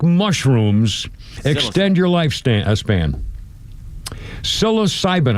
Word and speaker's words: psilocybin: Psilocybin, I pronouncing it correctly. It's p s i l. Psilocybin psilocybin.